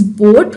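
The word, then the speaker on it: BODHD: first of all b-o-d-h-d is pronounced as boat where d and h are silent i repeat b-o-d-h-d is pronounced as board and secondly we are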